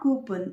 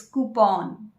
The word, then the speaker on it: coupon: It's not coupon, it's coupon.